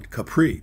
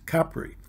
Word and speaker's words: Capri: in Italy and stayed in Positano, we had pronounced it like most American, Capri, the Isle of Capri, but we were told that the way to pronounce it is Capri.